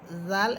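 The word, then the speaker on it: ذ: এরপরে 2টা হরফ জাল এবং জা। জাল এবং জা। জাল এর মাখরাজ হচ্ছে জিহ্বার আগা সামনের উপরের 2 দাঁতের আগার সাথে লাগবে।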